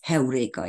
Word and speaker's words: Heureka: And Archimedes, the person who created the word Heureka, which I don't know how you English pronounce it, but it's Heureka in Hungarian and in Greek.